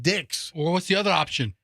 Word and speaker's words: Dix: It's D.I.X. I would imagine you pronounce it Dick's.